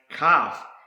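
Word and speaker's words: כף: next word I want to show you is pronounce calf and this is the same word pronounced the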